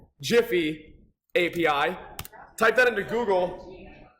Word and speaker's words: GIPHY: for today we're going to be using the Jiffy API so before anyone gets started if you want to head over into your browser and just Google Jiffy um some people pronounce it giy you are